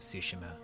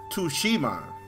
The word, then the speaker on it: Tsushima: today about ghost of tsushima combat sushima let's take a look at him i totally was pronouncing that wrong world of sushi so tsushima not to shima i think to shima